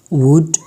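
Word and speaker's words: would: हमारे पास आता है L there is नो A exact rule of एल but mostly after a ई र यू द साउंड ऑफ एल ब become silent इसके लिए कोई खास रूज नहीं है लेकिन ये एक कभी मतलब अक्सर ए ई और यू के बाद जब आता है तो इसका जो साउंड होता है वो क्या होता है साइलेंट होता है जैसे कि शुड वुड टक पाम वाक इसके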